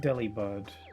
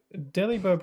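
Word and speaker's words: Delibird: Deli bird pronounced like deliver doesn't sound right with an English accent. Yeah. Deli bird.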